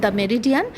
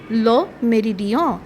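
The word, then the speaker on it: Le Méridien: ইংলিশে বলা হয় দা মেরিডিয়ান। আর যদি ফরাসিতে বলতে চান তাহলে বলতে হবে লো মেরিডিয়। এখানে নটা উচ্চারণ করা হবে না।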